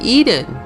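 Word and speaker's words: Ehden: For example, a town across from Hasrun is called Eden, E-H-D-E-N, which phonetically is the same as Eden, E-D-E-N, as in the Garden of Eden.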